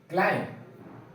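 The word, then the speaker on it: climb: अब यहाँ पे m के बाद भी आया है, हर जगह पे m के बाद भी आया है, तो b को प्रोनाउंस नहीं करेंगे। इसका सही प्रोनाउंसिएशन होगा क्लाइंब, डम, टोम, बॉम्ब, लिम।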